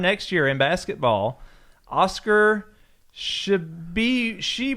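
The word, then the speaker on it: Tshiebwe: Oscar Shibwe. Just pronounce it like it's spelled.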